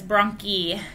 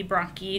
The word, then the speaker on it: bronchi: CD and the app it pronounces Brahm key as Brahm key and she said it's also acceptable to pronounce at bronchi so if you are saying it like that or if you have a student that says it like that that is technically a medical way to have it pronounced but it can also be bron key too so if you